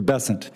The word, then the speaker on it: Bessent: Cassidy um Mr bassant I'm always going to pronounce your name as if it was in south Louisiana and I'm going to pronounce it with a French b as opposed to bessent that's what those folks in South Carolina do um I'll try let